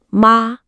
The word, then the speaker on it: 妈: 比如妈，一声是妈妈，马，三声是 horse。